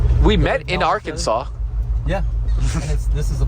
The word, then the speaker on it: Arkansas: We're officially in Arkansas. Or is it Arkansas? What? Arkansas. It's spelled Arkansas.